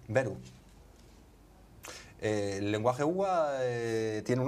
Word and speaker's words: Veru: Beru. Beru.